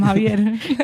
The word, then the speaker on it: Xavier: Yeah, but she can just say it Javier. Like that's literally how his X. parents call him Javier.